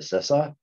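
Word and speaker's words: CISA: from sisa was like no Paul it's Sissa I'm like okay I won't make that mistake ever again nice okay oh now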